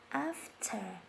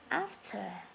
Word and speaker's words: after: After âm T hơi bật ra một chút ạ. After.